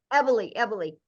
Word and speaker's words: Eboli: Eboli.